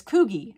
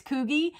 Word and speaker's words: Coogi: was saying it wrong and said it was Coogi and I'm like there's no way it's kogey so I looked it up on like Google